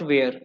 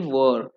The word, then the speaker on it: were: Now if you are using are, so it will transfer into past tense was and were, not where, we pronounce correctly were.